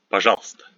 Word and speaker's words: пожалуйста: Here we don't pronounce this u and ye in the middle of a word. We pronounce it as пожалуйста, пожалуйста, пожалуйста.